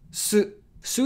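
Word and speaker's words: す: wants stroke very easy Sue is pronounced like the word Su or suing suit see the swing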